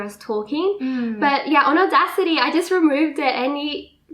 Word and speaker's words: Audacity: So we both use Audacity. So it's spelled A-U-D-A City, like C-I-T-Y, Audacity.